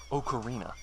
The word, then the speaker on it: ocarina: cokery nobody can stop okarina okar I had to train myself to pronounce that one differently because I got tired of people laughing at me you pronounce words differently